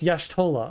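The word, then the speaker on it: Y'shtola: Yeah, it's Yashtolah. Okay, so I was pronouncing it wrong.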